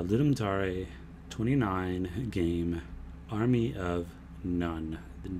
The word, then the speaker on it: Gnone: 29 game Army of none the G and The Gnome is silent and it is pronounced like Army of one only it's none get it all right